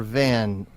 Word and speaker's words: Van Meegeren: His name was Von or Van Meegeren? It's VAN, and I've It is heard it VAN, pronounced both Van.